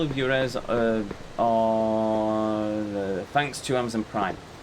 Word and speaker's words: Juarez: Juarez, that's how you pronounce it. Okay, thank you. Thank you, chat. And yes, you have to put emphasis on the Juarez.